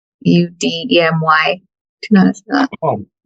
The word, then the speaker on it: Udemy: Udemy. Udemy.